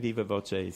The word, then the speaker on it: viva voce: V O C Ae, and I'm giving it kind of an Italian pronunciation. It's Latin for by word of mouth. I'm not sure if it would be pronounced differently in uh Latin or Spanish, but I'm saying Viva Voce so I can follow the uh Italian spelling.